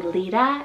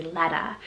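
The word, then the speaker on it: Leeta: e e t a i feel like with the double e you should do Lita and then l e t could be Leta and this one's a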